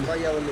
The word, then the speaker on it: Valladolid: Valladolid.